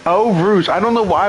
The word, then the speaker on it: Eau Rouge: How do you pronounce it again? Eau Rouge. Eau Rouge.